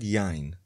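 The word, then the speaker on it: יין: Wine glass כּוֹס יַיִן The first syllable is stressed in the word yá-yin.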